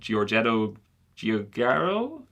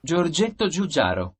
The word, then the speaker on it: Giorgetto Giugiaro: This was designed by an Italian guy called Giorgetto Giugiaro. I'll put the correct pronunciation of his name right here. Giorgetto Giugiaro.